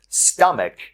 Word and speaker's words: stomach: ends with ch but the ch is pronounced with a k sound like a k you will just add s so for example stomach becomes stomachs oligarch becomes